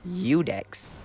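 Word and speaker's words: Iudex: all know and love udex gunder weirdly pronounced as eudex meaning to judge in latin this introductory giant looking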